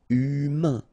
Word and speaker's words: humain: Remember, H doesn't exist. So, U, then A-I-N together. Un. Humain.